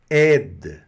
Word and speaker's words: aide: Olha o D mudo aqui também, né? Não é o D mudo, é um D que vai ser pronunciado, mas o E puxa esse D, não é isso? Aide. Não é ED, não. É aide.